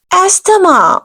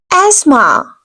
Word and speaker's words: asthma: You will have to say asthma. Here T will be silent, here H will be silent. You have to pronounce the word in such a way, asthma.